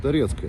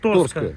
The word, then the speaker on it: Toretsk: - Which is called Toretske. Here is a crossroads. - I will correct you, Sash, Torske.